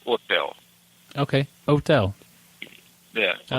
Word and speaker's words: hotel: but you just say hotel you just don't pronounce the age as a you know like Hotel you just say otel okay otel yeah I like that when that's